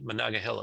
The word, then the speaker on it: Monongahela: based in monaghahila pennsylvania i finally figured out how to say monongahela by the way i think that's how you say it um pennsylvania and i